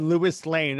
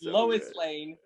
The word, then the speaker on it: Lois Lane: rewind the movie because he thought batman said lewis lane i was like there's no way that snyder